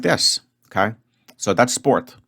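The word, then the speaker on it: спорт: English o and then this which looks like P in English is actually R in Russian and T is the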